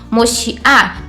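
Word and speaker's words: מושיעה: Dando uma entonação um pouco mais forte, passa a ser a sílaba mais forte, então a gente fica com esse som. moshiá.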